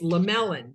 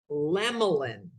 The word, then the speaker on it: Lemlin: the e in the middle confuses everybody it's lamellan they go l-e-m-e-l-i-n lamellan or lamolin so funny right so my name lemlin